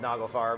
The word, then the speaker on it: Nagelfar: And it sounds a lot like a Swedish band called Nagelfar, but it's a German band called Nagelfar. How do you spell that? Nagelfar. Nagelfar. F-A-R, okay.